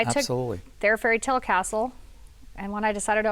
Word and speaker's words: Kastl: name is spelled Kastl, but it is Right. pronounced Castle.